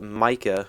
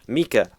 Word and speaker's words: Mika: Mika. I don't know how you. It's spelt with an I, K-A, but then you say it with an E-E-K-A. It's weird. It's Mika.